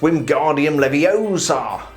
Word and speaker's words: Wingardium Leviosa: I believe it's pronounced Wingardium Leviosa.